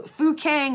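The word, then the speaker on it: Fukang: is to dive for so fuk Kang is how that is pronounced and yes fuk Kang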